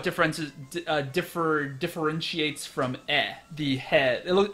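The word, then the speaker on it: へ: so the he particle it's actually pronounced e but it's written as a he um means just towards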